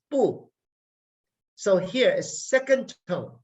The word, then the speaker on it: bu: it is you is so bu is boo so here is second